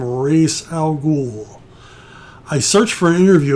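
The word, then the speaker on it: Ra's al Ghul: i was a kid i thought it was algol i don't know why i added the more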